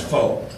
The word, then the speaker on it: Fort: thing about the military anything with f-o-r-t in front of it is always pronounced folk that's whether it's faux